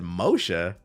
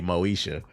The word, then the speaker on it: Moisha: And I said Mosha. I was like, "Oh, that's AI." Cuz it meant to say Moisha, but the AI the AI didn't know how to pronounce it.